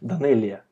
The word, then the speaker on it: Данелия: Как вы правильно произносите? Данелия.